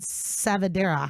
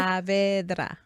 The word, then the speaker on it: Saavedra: I said Savadera. How do you say it? Saavedra.